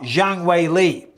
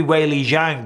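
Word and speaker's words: Zhang Weili: no Zhang Wei Li in the Chinese culture and I only know this from when I commentated out in uh China the the two-syllable word goes second because it used to be Wei Li Zhang but apparently the way you put he put Zhang wayley that's apparently so but still either way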